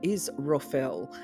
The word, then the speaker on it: Israfel: Today we're going to be talking about in this video the angel Israfel, and it's pronounced kind of like Israfel.